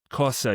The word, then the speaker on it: cosa: But for example, the other day I was talking with some friends and they said, when you say the word cosa, you put too much on the S.